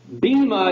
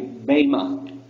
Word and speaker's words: bema: about the bema seat bema is actually not the best it's actually not how it's pronounced if the word is actually bama because it's it's in